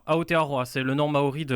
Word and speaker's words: Aotearoa: C'est le Super Rugby, alors je vais essayer de ne pas faire d'erreur de prononciation. Aotearoa. Aotearoa, c'est le nom maori de la Nouvelle-Zélande.